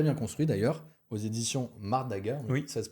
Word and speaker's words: Mardaga: intéressant et très bien construit d'ailleurs, aux éditions Mardaga. Oui, Ça se prononce comme ça, Mardaga?